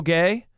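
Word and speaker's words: Gueye: He he said he checked the pronunciation and it's pronounced gay, which is I I mean I stand by it.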